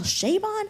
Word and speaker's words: Chabon: And I mispronounced his name, Michael Chabon, Shea Stadium, Bon Jovi, Chabon.